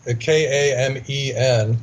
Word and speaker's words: kamen: In Bosnia, the word for stone is kamen. They pronounce the E, K-A-M-E-N. They pronounce the E like an A, so it's really kamen.